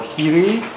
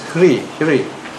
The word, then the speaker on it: hiri: In Pali, they're called Hiri Potappa. Hiri Potappa. In Sanskrit, it's pronounced as Hri. You might hear some of these Indian movie stars, isn't it? Hri, H-R-I. Pali is Hiri.